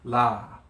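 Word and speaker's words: lā: Now, the kahako, it elongates the sound of the vowel. Yeah? So, if it's over a vowel, then it sounds a little bit longer.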